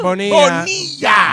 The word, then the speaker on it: Bonilla: She said my name correctly. EJ Bonilla. Bonilla. I thought it was Bonilla, but I was like, let me go with Bonilla.